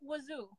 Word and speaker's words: wudu: Like in Pakistan, they'll call it wuzu. Okay. But it's like, okay. I've always. I don't want my phone to die again. I just remembered. I gotta plug my phone. Wudu.